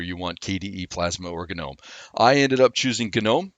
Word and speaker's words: GNOME: GNOME, and yes, but that is how you pronounce it. It is GNOME.